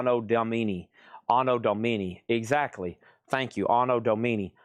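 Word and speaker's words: Anno Domini: And that is a $195 star pronounced Domini. Ano Domini.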